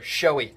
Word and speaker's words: shoey: Now that I've done this, now that I've experienced the shoey, I still need to look up how to pronounce that correctly. All right, and here it is right here, shoey.